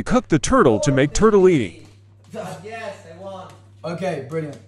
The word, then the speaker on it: tortellini: making my Italian roommate think we cooked the turtle to make tortellini. Yes, I won. Okay, brilliant. Sarà perché ti amo. Tortellini. Tortellini. Okay, turtle. There's a reason why it's tortellini.